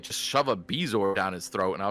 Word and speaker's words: bezoar: He says Bijouar. So even the movies changed it. Like, Yeah. I don't know why. I don't know why they went with Bezoar later, because they even say bourgeois in the first movie. So that means Bezoar was a book change first. Yeah. And to be fair, I'd rather say Bezoar. It's so much easier than bourgeois.